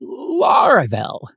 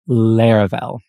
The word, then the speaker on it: Laravel: when people heard the word they called it LEL not laravel and actually some people still do today but trust me the correct pronunciation is Lar well uh but yeah back then nobody knew what